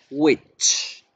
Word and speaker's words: which: Y ojo con la pronunciación. Which. Como bruja. Sí, suena igualito a la palabra bruja.